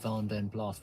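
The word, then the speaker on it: Vanden Plas: Wy be good fun everyone in Birmingham said vanen blast which is the correct pronunciation back into the comments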